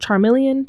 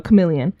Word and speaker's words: chameleon: to pronounce that word Charmeleon Charmeleon careleon like the lizard that can BL in with chameleon chameleon there you go chameleon I say Charmeleon I'm